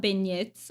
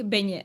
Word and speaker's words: beignet: Yeah, I think beignet. I think you're right. And the T is silent.